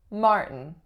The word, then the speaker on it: Martin: one we have Martin Martin two syllables first syllable is the winner and the sound that it makes is an R colored vowel are the second syllable and so syllabic N or schwa N and for this name